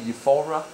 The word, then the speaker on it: euphoria: yeah euphoria i like euphoria how do you say in england we tend to say euphora okay with an emphasis on the aura look it it's because